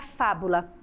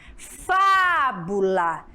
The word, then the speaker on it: fábula: Por exemplo, fábula, fábula, tá vendo? Aonde está a sílaba tônica? Aqui, crianças, olha só, no fá, fábula.